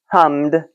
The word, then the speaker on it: hummed: So, I can make that into past tense just by adding the D sound to the end without another syllable because it ends in m, not D or T. So, I hummed a song. Hummed asked hummed.